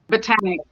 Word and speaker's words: Botanique: uh, Botanic, it, it's Botanic as well.